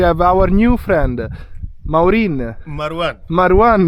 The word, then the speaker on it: Marwan: Marwan. Not Martu or Mar3, just Marwan, Martu, Mar3.